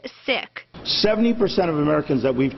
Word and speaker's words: Sikh: it's important to know we often hear the pronunciation Sikh but it's pronounced Sikh 70% of Americans that we've talked to do